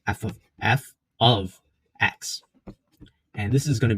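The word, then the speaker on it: f(x): Okay, so the way you pronounce this is f of x.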